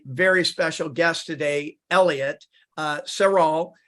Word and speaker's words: Serral: And that brings me to my very special guest today, Elliott Serral. How do you pronounce it, Elliott?